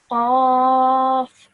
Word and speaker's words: Qaf: So you pronounce this from the middle of your throat, and it's a nice heavy sound. Qaf.